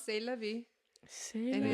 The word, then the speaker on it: C'est la vie: C'est la vie. C'est la vie.